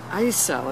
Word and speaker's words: ISO: four years ago when I first heard that ISO as it's pronounced by those inside that ISO was making